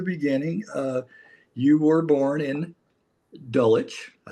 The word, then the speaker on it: Dulwich: You were born in Dulwich. I said it right this time. Good work. Yeah. Dulwich, actually.